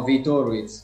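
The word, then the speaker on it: Viitorul: And I might mispronounce the name. Oh, VITORUL, it's right.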